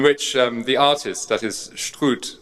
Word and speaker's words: Struth: I was going to say Struth, which is sort of English, but I think Struth might be better.